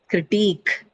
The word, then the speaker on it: critique: Here again, the stress is on the syllable carrying these suffixes because they carry long vowels and diphthongs in them. So e, right? Trainee, ease, Chinese, eek, right? Critique, right?